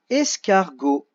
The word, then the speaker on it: escargot: Escargot. Là comme c'est un O qui suit le G, donc le G suffit. Escargot.